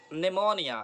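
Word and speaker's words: pneumonia: Okay, silent P में हम देखते हैं यहाँ पर निमोनिया.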